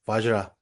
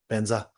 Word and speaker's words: vajra: So Tibetans cannot pronounce vajra. We we mess up all the vajra. We we recite as benzah benzah benzah benza benza.